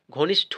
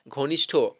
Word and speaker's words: ঘনিষ্ঠ: ট কিন্তু হয় না ঘনিষ্ঠ হয় ঠ ঠ উচ্চারণ হবে ঠিক আছে ঘনিষ্ঠ অর্থাৎ কিল লাঠি লা ল একা ঠ হসি বা ঠ এর দিকে লাঠি লাঠির ক্ষেত্রে কি ঠ উচ্চারণ হচ্ছে ট নয় তেমনটা এখানেও ঘনিষ্ঠ ঠ হবে মানে ঠ ট কিন্তু হবে না নেক্সট কোশ্চেন মিষ্টা অর্থাৎ